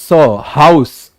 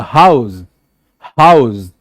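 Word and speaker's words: house: सो the same spelling को आप अलग तरीके से बोलोगे. लाइक अगर ये क्या है? नाउन है, so that is हाउस. बट अगर ये वर्ब है तो ज का साउंड आएगा, हाउस.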